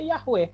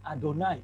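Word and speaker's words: יהוה: tahu mereka Bacanya apa setiap muncul yhwh mereka enggak bacanya Yahweh karena yhwh itu gak bisa dilafalkan a consonant semua akan tetragrammaton mereka bacanya adonai lucu kan Hai tulisannya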